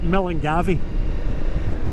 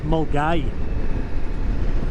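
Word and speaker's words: Milngavie: heading into a place called it looks like mangavi right but it's pronounced mg and if any us bike riders have got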